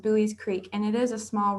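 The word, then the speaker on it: Buies Creek: And then the town that we're in is pronounced Bowie's Creek, and it is a small rural town.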